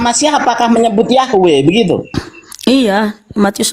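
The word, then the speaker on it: Yahweh: dong bisa juga bisa juga dibaca Yehua loh bacanya Yahwe kalau Yehua enggak nyambung ke Haleluya. Kenapa disebut haleluya? Karena terpujilah Yahwe. Kalau Yehua apalagi jadinya haleluya. Gimana sih? Nah, sebutan yang benar itu Yahwe atau Yahua gitu.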